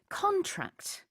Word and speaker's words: contract: contract라고 하면 강세가 뒤에 있죠. 동사입니다. 그리고 줄어들다, 수축하다라는 뜻이 있어요. 그래서 이 기사에서도 Korea's economic growth contracted 1%. 줄어들었다 이런 뜻인데 만약에 contract 이렇게 강세를 앞에다가 두면은요.